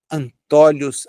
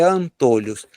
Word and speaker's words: antolhos: Antólios, a depender da pronúncia que a pessoa queira dar, né? O correto é antôlhos, porque são, na verdade, na verdade duas peças que limitam a visão.